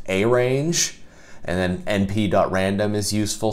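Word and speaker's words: arange: It looks like it's pronounced arrange, but it's actually pronounced arrange.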